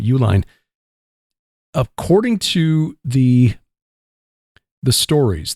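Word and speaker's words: Uihlein: n it's but it is that's how you pronounce their name Uline according to the the stories this group of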